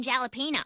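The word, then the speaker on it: jalapeño: How do you pronounce the J in jalapeno? It makes the H sound.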